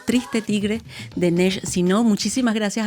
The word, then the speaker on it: Triste Tigre: Le agradecemos muchísimo haber estado con nosotros para este libro, que además se pronuncia en francés y en español igual, Triste Tigre, de Nesh Sino.